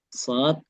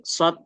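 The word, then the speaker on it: ص: Jadi kalau kita bahasakan, shad itu adalah sin dengan versi tebal, sin dengan versi yang membulat, sin dengan versi yang menaik, ya, bawaannya menaik. Itulah yang nantinya akan membuat shad ya, pelafalannya berbeda dengan sin.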